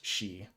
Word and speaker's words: sidhe: It makes a lot more sense if you realize that si dh is pronounced she.